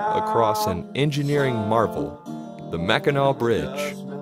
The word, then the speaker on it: Mackinac: gateway to Mackinac Island you pronounce it Mackinac which I didn't always know it's not my favorite